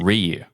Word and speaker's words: Ryu: It's pronounced Ryu.